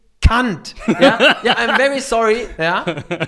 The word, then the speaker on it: Kant: In American or British colleges, they say Immanuel Kant. It's not Kant. It's Kant. Yeah, I'm very sorry. Yeah. But this has to be said. It's not Immanuel Kant.